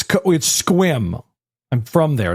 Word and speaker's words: Sequim: No, because I called it Sequim, Washington to somebody, and they're like, it's pronounced Squim. And I was like, it's written Sequim. Like, I know what I'm reading. And they're like, it's Squim.